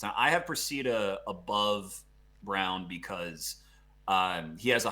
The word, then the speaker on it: Braun: exactly yeah and brown i actually think it's pronounced brown even though like everything in your brain is telling you say brawn i've i've made this